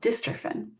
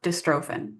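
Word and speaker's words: dystrophin: The protein that the DMD gene makes is called distrophen or distrophen. Either pronunciation is correct.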